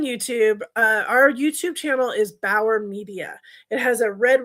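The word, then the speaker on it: Bower: If you're not on YouTube, our YouTube channel is Bauer Media.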